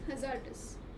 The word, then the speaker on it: hazardous: The word is hazardous. Where is the stress on hazardous just by listening to it? About zed. Very good. It is about ab about zed. Right. So hazardous.